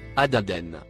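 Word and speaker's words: عددا: en surbrillance gris foncé il se prononce à d'aden il vient du nom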